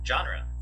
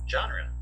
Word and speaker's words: genre: so we're gonna repeat it three times yep genre twice more genre once more genre okay so it's the Chandra John Oh Joe